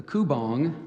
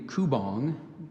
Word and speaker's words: kubong: to be flying the kubong was actually gliding from One Tree to another and there's the pronunciation I gave you kubong there's a very just a slightly different kubong that is correct actually just for like